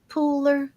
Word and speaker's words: Pooler: um Pooler is that how you say it Pooler Pooler yes the hotels that are by the